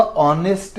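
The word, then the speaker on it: honest: ऑनेस्ट के कारण, यानी ऑनेस्ट में एच से स्टार्ट हो रहा है, जो कि एक म्यूट साउंड या साइलेंट साउंड है, और ऑ से स्टार्ट हो रहा है, इसलिए इसके साथ, यानी वावल साउंड से स्टार्ट होता है इसका प्रोनाउंसिएशन, तो इसलिए इसके साथ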